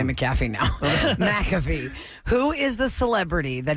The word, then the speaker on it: McAfee: you say McAfee or do you say maffy mcafe McAfee you say McAfee that's how it's pronounced that's how the guy's